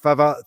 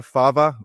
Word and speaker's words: Fava: Fava is the correct Italian pronunciation, but uh since I've grown up, everybody's been saying Fava and we've sort of acquiesced to that unless I travel to Italy, at which point it becomes fava real quickly.